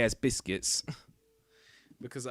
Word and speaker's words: Busquets: Sergio Busquets. I think that's how you say his name, though. Is it not? If it's not how you say it, then it's Busquets. But I say it as Biscuits.